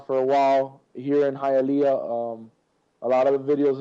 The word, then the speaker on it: Hialeah: I don't want to mispronounce the name of your city there. Hialeah.